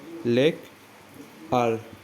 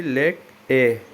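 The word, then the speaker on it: Lake Eyre: फिर आपका ये ऑस्ट्रेलिया का लोएस्ट पॉइंट है लेक आर, ठीक है, लेक आर। तो इसका और एक प्रोनाउंसिएशन हो जाता है कि लेक ए, ठीक है, लेक ए कहाँ पर है, ऑस्ट्रेलिया।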